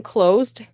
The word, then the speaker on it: close: So the expression closed, closed. So close, even though it's a CL, even though it's a CL, oh, that, it's an S, it actually pronounces a Z.